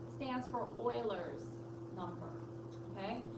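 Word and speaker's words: Euler: and E stands for Oilers number okay it's actually pretty cool because um it's pronounced Oiler but it's spelled that way it looks like uler I know but it's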